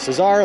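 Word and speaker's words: César: He told me his name was Cesar, like Caesar, but pronounced Cesar because it was Dominican, and that he had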